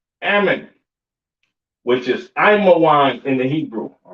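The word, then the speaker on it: עמון: Ammon, all right, Ammon, which is Imawan in the Hebrew.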